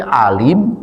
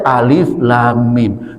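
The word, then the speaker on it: الم: Apakah ini alim? Alam alim alum ulam apa? Tidak. Itu bacanya alif lam mim.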